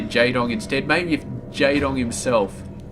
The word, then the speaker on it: Jaedong: know what i mean it's jaedong it's very very sharp it's really very very sharp corners to the pronunciation but jedong it just rolls off so smoothly like taga taga is